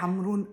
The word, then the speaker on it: Ħamrun: Ähm Hamrun wird aber auch nur normal. Hamrun ausgesprochen, obwohl es dieses gestrichene Haar hat. Das wird oft sehr scharf ausgesprochen. Hamrun ist Hamrun ziemlich normal und Hamrun hat sehr viele Kirchen, 5 bis sechs.